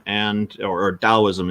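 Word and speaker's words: Taoism: because those uh both taism and or or dosm is the correct pronunciation with the D instead of a t but most people say with a t and Buddhism are both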